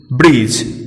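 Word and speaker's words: bridge: अब हम बात डी की करें तो डी के बाद जी लगा हो तो डी साइलेंट रहता है। हम निम्न शब्दों में देख सकते हैं प्लेज, स्लेज, ब्रिज। इन सभी शब्दों में डी साइलेंट है क्योंकि डी के ठीक बाद जी आया है।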